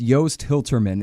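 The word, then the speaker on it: Joost Hiltermann: interviewed the guy - it's Yost he'll Terman it spelled like juiced with two O's Yost he'll terman wrote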